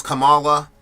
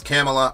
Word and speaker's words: Kamala: Lord Jesus Mr stadman I thought her name was Kamala then I heard it was camela I've been calling her